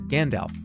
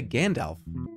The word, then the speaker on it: Gandalf: How do you pronounce it? It's Gandalf. Gandalf. That's how you say Gandalf.